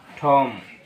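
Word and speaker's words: tomb: আমরা উচ্চারণ করবো না বলব থাম আঙ্গুল খম চিরুনি ঠম বা টুম কবর নাম অসার এরপর হচ্ছে লেম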